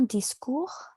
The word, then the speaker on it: discours: Un discours. Mhm. Oui. D'accord. Très bien. Donc, le S ne se prononce pas.